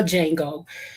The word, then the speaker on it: Django: It's not called The Django. It's called Django. The D is silent.